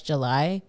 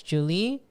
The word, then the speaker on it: July: And I like that because I spell it with just July, and I know that some people would say that's July, but in Spanish like the Y makes an E, so to me that's Julie.